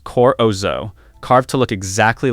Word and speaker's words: corozo: And there was ivoroid, which was made from vegetable ivory, the ground pulp of the corozo nut, pronounced corozo, carved to look exactly like real elephant ivory.